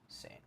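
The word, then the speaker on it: Sain: Superlative, like the word superlative, and then Sane as in S-A-I-N. Sane.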